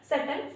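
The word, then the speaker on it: subtle: सबल सॉरी सल। इसको हम सटल पढ़ते हैं। यहां पर भी बी जो है वो हमारा साइलेंट है। इसी वजह से हम इसका प्रोनंसिएशन नहीं करेंगे। इसका जो सही प्रोनंसिएशन होगा वो हो जाएगा सल यानी कि जटिल।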